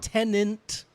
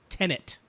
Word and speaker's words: Tenet: It's a palindrome, right?